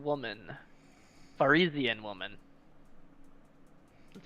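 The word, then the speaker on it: Varisian: Some of them smeared beneath the body and blood of a dead Visarian woman. Farizian woman. That's how you pronounce that.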